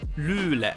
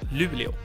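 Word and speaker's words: Luleå: you men um you and Loula not Lulu and her left and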